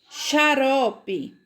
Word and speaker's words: xarope: Elas têm o som do CH, tá certo? Então, quando eu leio caixa, peixe, xarope, enxada, estão ouvindo a pronúncia? É uma pronúncia muito, muito parecida com a pronúncia do CH.